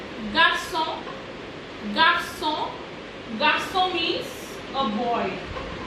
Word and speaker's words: garçon: G, which is pronounced as J. Garçon, garçon, garçon means a boy.